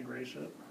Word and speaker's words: Gratiot: fear in the south it's okay to say gracious that's fine with us yeah well it's just